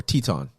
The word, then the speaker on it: Teton: And this is how they pinpointed that he was there in Tinton, Tinton, or Teton. Teton's the pronunciation for it.